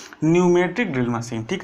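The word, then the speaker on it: pneumatic: कि न्यूमेटिक drill machine यहां पर पीने में लिखा है लेकिन टीम साइलेंट हो जाता तुम लोग इसको बोलते हैं न्यूमेटिक ड्रिल मशीन ठीक है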